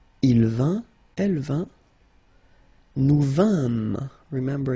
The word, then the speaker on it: vîmes: Je vins, tu vins, il vint, elle vint, nous vîmes. Remember, it's quite tricky to pronounce that.